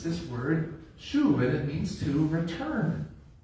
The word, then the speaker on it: shuv: You pronounce it shuv. Shuv.